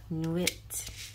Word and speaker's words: nuit: Middle and we have Nuit on we I think in this deck I don't know why but they pronounce it knew it in this deck but in French it's Nui I wonder if it's